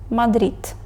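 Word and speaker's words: Madrid: в українській д Нейро але якщо вона стоїть в кінці слова звучить ближче до Т Мадрид далі літера и вимовляється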